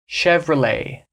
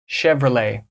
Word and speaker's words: Chevrolet: car brand from America Chevrolet Chevrolet so now we're back to the French sounds you're not pronouncing that T at the end it's chevr you pronounce